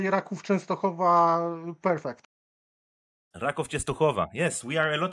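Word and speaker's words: Raków Częstochowa: Rádek, am I pronouncing it right? Yes, but Matan, I'm impressed that you can say Rákov Częstochowa perfect. Rákov Częstochowa.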